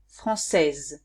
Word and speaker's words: française: Français, française. I hear the Z at the end.